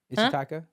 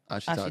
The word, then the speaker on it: Ashitaka: Ishitaka? Ashitaka. Ashitaka. Okay. That's right.